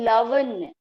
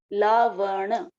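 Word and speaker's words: lavaṇa: Then lavanya. Lavanya, and also understand the pronunciation of each. Madura, amla, lavanya. Lavana. Bada. Lavana. Okay.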